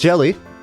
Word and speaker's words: Gelly: want to pronounce it Gelly, but yeah, I don't know. Does Gelly have a meaning? Let's just see. Gelly. Oh no, okay, this one, it is pronounced jelly.